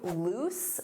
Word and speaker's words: loose: Let's review loose. Notice that pronunciation. Oose, loose, loose.